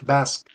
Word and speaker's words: Basque: He is BOS heritage. Oh Okay. Bas Basque.